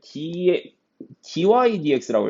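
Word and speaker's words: dy/dx: 같은 표현이 뭐가 있냐면 dy dx라고 읽어. dy dx. 이 dx분의 dy라고 읽지 않고 y를 x에 관하여서 미분했습니다. 라고 해서 dy dx라고 읽고 y 프라임이라고 읽기도 하고 fx를 y에 관하여 x에 관해서 fx를 미분했다. 왜? y랑 x랑 fx랑 서로 같으니까 x에 관하여서 미분했다라고 해서 얘를 dx분의 dy라고 하면 잘못 배운 거야. 얘 dy dx야, 알겠지?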